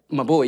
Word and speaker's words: Maboe: Am I saying it right? Maboe, yes. Maboe. One of the first to get it right first time around.